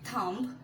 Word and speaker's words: thumb: তারপর আছে THUMB, আমরা কি বলে থাকি thumbs up, but this is not thumb, this is thumb, only thumb. The B is here a silent letter, thumb.